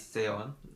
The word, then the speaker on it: Seon: It's written Seon, but it's not pronounced Sean or Sean. Oh yeah. It's Seon. It's pronounced the Spanish way.